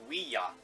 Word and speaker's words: Ouija: should be pronounced Ouija, because it's not ja, it's ya.